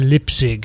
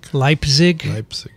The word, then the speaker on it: Leipzig: for uh posthumous no posterity i'm going to lip zig is that how you say it leipzig yeah so it's a long time it's five